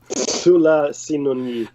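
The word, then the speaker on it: Tsulasinun'yi: Sula Sinoni. I just want people to hear the right pronunciation the first time.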